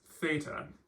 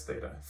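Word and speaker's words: θῆτα: This one is theta, which makes the th, th sound.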